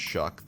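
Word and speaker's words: Shough: Tyler Shuck, in just his second career start, again, I'm going to talk about how his last name looks like show, but it's pronounced Shuck.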